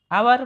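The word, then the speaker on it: hour: him dash आवर एगो आवर को आवर को भी को पढ़ H silent H silent Thai तो हमें आवर कह आवर है ओ साउंड सूची माने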